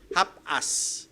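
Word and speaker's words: ἅπας: Pero yung sinabing ah all ginamit po yan sa griego yung hapas. Half us parang yun ang pronunciation.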